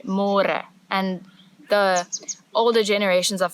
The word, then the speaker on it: môre: It's a little bit easier, but you have to remember to read môre, because in English it's spelled like more. So don't say more, say more.